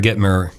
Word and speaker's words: Gitomer: So you joined a Toastmasters club where this Jeffrey Gitomer, I'm saying that right? Gitomer, right.